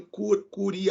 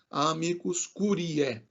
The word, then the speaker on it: amicus curiae: vocês virem né essa essa junção da letra a com a letra e esse ditongo né aí o a pronúncia era o som de e tá então não falem cury e cury ai curiae cure é né amicus curiae é é a pronúncia correta dessa expressão amigos amicus curiae